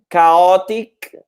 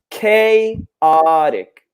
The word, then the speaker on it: chaotic: with the pronunciation here it's not chaotic but chaotic so that a is a long a just like the letter in the alphabet a K so chaotic what is a synonym